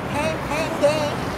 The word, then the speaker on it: Pampanga: And it's in, of course, Americans tear that word up. Pampanga. Can't think of how they say it. Don't say Pangasinan. Pampanga. So the real word is Pampanga.